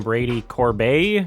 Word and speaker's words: Corbet: and uh I see some interviewers pronouncing his name Brady Corb like it's French been joined by its